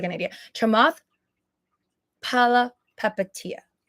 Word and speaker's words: Palihapitiya: Chamath Palihapitiya. I think the H is silent. Chamath Palihapitiya.